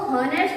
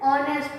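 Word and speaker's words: honest: अब इसको हॉनेस्ट तो नहीं पढ़ते हैं, एच क्या रहता है? एच हमारा साइलेंट रहता है, तो इसको क्या पढ़ते हैं? ऑनेस्ट।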